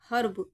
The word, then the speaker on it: herb: Fifth rule है, जब किसी वर्ड में ई के बाद आर आए तो ई को आ से पढ़ते हैं। ठीक है, क्या प्रोनाउंसिएशन होगा, क्या स्वर आएगा? आ। ई के बाद अगर आर आ जाए, जैसे हर्ब, HERB, ई के बाद आर आ गया तो उसको कैसे पढ़ेंगे? हर्ब।